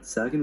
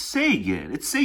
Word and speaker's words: Sagan: Sagan was writing in 1990. This is a prescription for disaster. He mispronounced it again. Sagan was writing in 1995. It's Sagan.